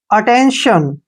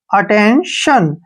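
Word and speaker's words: attention: ठीक है ना जैसे अटेंशन ठीक है ना अटेंशन यहां पर टी आई ओ एन का उच्चारण शन के रूप में करते हैं शन श के बाद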